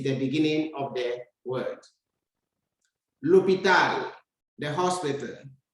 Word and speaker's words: l'hôpital: L'hôpital, the hospital. You can see we have a silent H that begins the word.